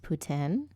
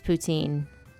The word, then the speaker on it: poutine: baguette chris hall um i've seen some people say that poutine is pronounced putin and they're wrong they're incorrect i don't care how many french people say oh it's putin they are wrong they are incorrect it's poutine we ain't speaking french